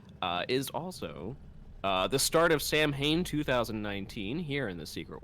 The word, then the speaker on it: Samhain: yeah I think some I think it's pronounced Samhain right or is it pronounced oween right so the the Halloween